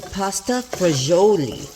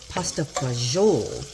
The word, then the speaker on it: pasta e fagioli: I'm making pasta fagioli or pasta fagiole, depending on how you want to pronounce it.